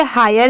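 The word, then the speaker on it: high: पढ़ेंगे हाय ठीक है आप याद रखिए कि अगर कहीं पर एच आई जी एच बस इतना ही लिखा रहा तो वहां पर आप उसे प्रोनाउंस करेंगे हाय और लास्ट में अगर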